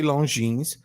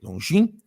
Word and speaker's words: Longines: Don't say Longines. Say Longines.